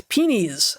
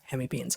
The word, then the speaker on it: hemipenes: And I every time I talk about hemipenes, someone is like, it's peenies. I'm like, you know what? Freaking herpetologist. I'm not saying that all of us aren't pronouncing it wrong, but in herpetology, where we study these things, we call them hemipenes.